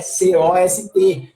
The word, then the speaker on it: cost: falando de cost, né, então se escreve cost, né, C-O-S-T, te lê cost. Né? Então, assim, tinha circunflexo no O, letrinha K, coast.